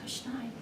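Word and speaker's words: Kuszniaj: My name is Kushnein, Could you spell it?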